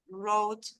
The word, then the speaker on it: wrote: So remember, the word, the W, you don't pronounce it in many words. Right, wrote, wrong, answer is mute.